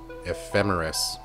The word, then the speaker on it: ephemeris: started pronouncing that word ephemeris and i was like is it emphasis memphis no it's not emphasis ephemeris i feel like that